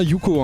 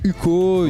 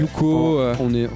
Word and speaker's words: Huko: Qui forment donc Yuko, ça se prononce bien Yuko, hein. Ouais. Parce qu'il y en a qui disent Uko, Ouais. Yuko.